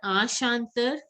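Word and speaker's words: chanteur: EUR is pronounced as Er. So Ashantar.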